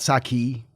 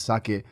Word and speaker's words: sake: at right now so what what do you pronounce that it's actually sake it's not saki that's how us Americans say it but it's sake and if you're in Japan you would call